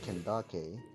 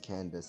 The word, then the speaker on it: Candace: It's the same thing with Candace, where technically her name, where it originates from, you know, her name, it would be pronounced Kendake, but no, we pronounce it as Candace, and even the game pronounces it as Candace.